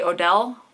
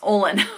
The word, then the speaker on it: Olin: Now I was wanting to say Odell, but it's Olin.